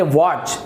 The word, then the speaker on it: watch: उसी प्रकार से देखिए यहां पर टी साइलेंट होगा, WATCH, तो इसे आप वॉच से नहीं पढ़ेंगे, इसे आप पढ़ेंगे वॉच।